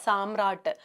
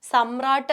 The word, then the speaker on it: സമ്രാട്ട്: അപ്പോൾ ശരിക്കുമുള്ള ഉച്ചാരണം എങ്ങനെയാണ്, സമ്രാട്ട് എന്നുള്ള രീതിയിൽ മതി, സാമ്രാട്ട് എന്നുള്ള രീതിയിൽ നമുക്കത് ആവശ്യമില്ല.